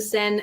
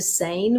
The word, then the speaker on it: Seine: Now, I know that many people in Western-speaking countries say like the Seine, which is the river in France, but it is pronounced the Seine.